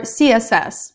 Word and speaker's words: CSS: Java applications python or css again be careful with your pronunciation it's python it's CSS you have to read the letters separately and it's Java in